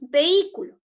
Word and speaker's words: vehículo: Recuerden ustedes que la E se separa de la I porque la I lleva tilde y cuando lleva tilde se pronuncia el hiato.